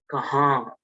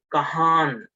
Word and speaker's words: kahan: and then we have it is kahang so again the n is half song okay if you say kahan okay if you say kahan then the pronunciation is wrong okay you should never